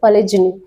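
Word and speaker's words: polygamy: Marrying only one woman, यानी कि एक महिला से शादी करना, और इसका प्रोनाउंसिएशन है पलिजनी।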